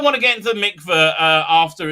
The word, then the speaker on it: mikveh: Is nigma? Is that how you pronounce it? Is that purification? Mikveh. Mikveh the mikveh is a.